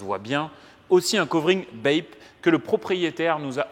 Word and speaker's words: BAPE: covering BAP qui était il faut faire très attention à la prononciation de la marque c'est une marque de vêtements japonaise parce qu'on nous a repris nous on n'est pas des fashion donc BAPE je pas faire le